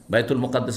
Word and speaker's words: বাইতুল মুকাদ্দাস: কি অবস্থা বাইতুল মাকদাসে বাইতুল মাকদাস পড়তে পারেন মুকাদ্দাসও পড়তে পারেন মুকাদ্দাস নয় শুধু বাইতুল মুকাদ্দাস বাইতুল মুকাদ্দাস পবিত্র অথবা বাইতুল মাকদ্দাস এই দুটো উচ্চারণ ঠিক আমার সামনে আল্লাহ উন্মুক্ত